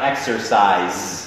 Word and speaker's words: exercise: used to นะฮะ I used to แล้วก็หลายคนออกเสียงแบบนี้นะครับ exercise นะครับแต่ก็นะครับต้องให้แน่ใจว่ามีตัวสะกดด้วยครับ exercise นะฮะซึ่งตัว s ตรงนี้ออกเป็นตัว z นะครับหรือตัว z นะฮะก็คือ zozo